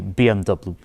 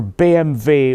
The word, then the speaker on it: BMW: German Way of pronouncing it in Germany they pronounce as BV but in English we say BMW so back to the point this particular BMV 1 series costs €1,000 and this is exactly